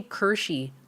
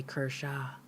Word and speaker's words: Kershaw: Just like I say Kershey a lot, and then sometimes I remember to say Kershaw.